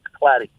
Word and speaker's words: Klatte: It's spelled Klatte. It looks like K and then the word latte, and it's pronounced Clady.